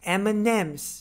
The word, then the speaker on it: M&M's: 其实就是这个 Maltesers。Number 2, M&M's，它的发音的技巧呢